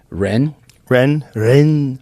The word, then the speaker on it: Rennes: Rennes, France.